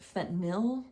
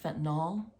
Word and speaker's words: fentanyl: It's pronounced fentanyl, not fentanyl.